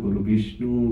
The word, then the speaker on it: গুরবে: ইউটিব গুলোতে দেখা যাচ্ছে গুরুবে নম উচ্চারণ করছেন ওটা গুরবে নম সম্বোধনে গবে হবে গুরুর ব্রহ্মা গুরু ব্রহ্মা